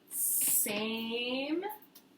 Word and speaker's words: same: If we added a silent E to Sam, what word would it make? Same.